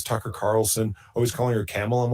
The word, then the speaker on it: Kamala: I pledge right now to never pronounce Kamala Harris incorrectly. Kamala.